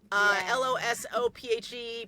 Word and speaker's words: Losophe: LOSOPHE, pronounced like philosophy.